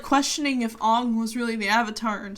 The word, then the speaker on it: Aang: So, like, they say Ong because, like, that's how it would be pronounced.